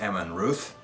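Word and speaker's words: Amon Rûdh: but because the dh because of the way dh is pronounced in tolkien's works i believe it's pronounced emma and ruth something like that either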